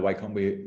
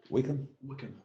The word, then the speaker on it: Wycombe: I'm neither Wycombe. What is it? Wycombe? Wickham, how you say it, Wickham supporter or Oxford